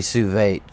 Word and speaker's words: sous vide: Aldi sells it, so a lot of their pre-cooked meats is technically sous vide.